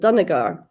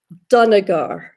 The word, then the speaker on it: Dunagar: Dunagar. Dunagar. Dunagar. It's quite, I don't know, it's quite Scottish, the Dun, there's a lot of, yeah.